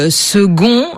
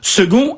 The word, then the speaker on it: second: c'est embêtant fa eneverp pourquoi par exemple prononçons-nous second alors que ça s'écrit avec un C c'est vrai que le